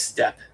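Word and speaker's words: steppe: There's dragon marked, and there are steep halflings that use dinosaurs as mounts. Ooh, interesting. That's kind of cool. Or I guess step, not steep. I always pronounce that wrong, but yeah, I get that's kind of cool.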